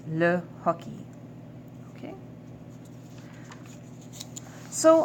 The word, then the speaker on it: hockey: It's le hockey.